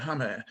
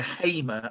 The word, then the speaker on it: Hamer: we've got a couple of players jerkers and hummer and they are ritualistically anglicized into hamer and yokeres as if nobody's ever heard of